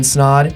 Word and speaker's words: Snaadt: But until then, my name is Snaadt. It rhymes with odd, and I'm out.